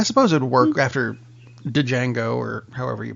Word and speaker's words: Django: Django just says as addy but it's just Django isn't that the game you play with the